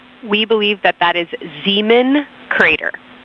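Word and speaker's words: Zeman: We believe that that is Zemen Crater.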